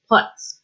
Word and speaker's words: Putz: So it's spelled P-U-T-Z. We like to joke that she didn't marry a Putz, she married a Putz. So I always say in my head, Cora puts it down to remember I'm saying it correctly so that you know.